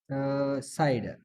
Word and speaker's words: CIDR: इससे सी उठा दी, इससे आई, इससे डी और इससे आर, तो इससे क्या CIDR प्रोनाउंस साइडर नोटेशन को बाज लोग इसको CIDR नोटेशन, इसको बाज साइडर नोटेशन बोलते हैं, ठीक है।